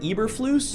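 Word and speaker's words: Eberflus: the record hello judge my name is Matt ibris Lewis I am the current head coach of the Chicago Bears oh no uh I mean uh sir uh Mr how do you say that again Eber flus Eber flus Mr Eber flus do you understand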